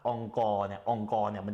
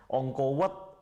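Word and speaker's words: អង្គរវត្ត: ครั้งหนึ่งในชีวิต บางทีคนไทยจะออกเสียงว่า อังกอร์วัดอังกอร์ธม ได้ไหมครับ เขาจะเรียก "อ็อง โก" แต่ถ้าคนไทยไปออกเสียงว่า "อ็อง กอร์" จะแปลว่า ข้าวสาร คนมักจะพูดผิดระหว่าง อังกอร์ กับ "อ็อง โก" "อ็อง โก ว็อด" บางทีบางคนบอกว่า "อ็อง กอร์" "อ็อง กอร์" ที่แปลว่า ข้าวสาร น่ะครับ อ๋อ ถ้าจะเรียกให้ถูกต้องเรียกว่า "อ็อง โก ว็อด" "อ็อง โก ทม" แล้วสถานที่วัดล่ะครับ วัด เขาเรียกว่า "ว็อด"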